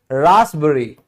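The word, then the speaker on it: raspberry: फिर भी P silent होता है। जैसे रासबरी। रासबरी। यहां पे एस पहले आ गया। देखो पी से पहले एस आ गया।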